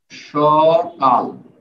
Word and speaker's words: সকাল: যেমন দেখেন সকাল, তো স এর সাথেও তো কোনো স্বরবর্ণ নাই, তাহলে এখানে হর্ষ চিহ্ন হবে কি? না, এখানে নাই কিন্তু উচ্চারণ করে দেখেন সকাল, যেখানে স্বরবর্ণ উচ্চারণ হবে না সেখানেই হর্ষ চিহ্ন হবে।